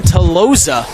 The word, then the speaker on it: Toloza: A Blue Jay could not catch Toloza, as I've been pronouncing his name incorrectly all night. It's Rylan Toloza, as they were going